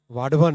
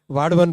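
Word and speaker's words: वाढवण: इसको वदावन मत बोलिएगा ना, वाडवन है इसका करेक्ट नेम। महाराष्ट्र में काम कर रहा हूँ ना तो मुझे करेक्ट प्रोनाउंसिएशन इसका मिला वहाँ, वाडवन पोर्ट।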